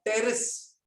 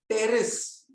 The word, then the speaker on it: Pteris: Third, Pteris. Pteris. P silent है बेटा. Pteris.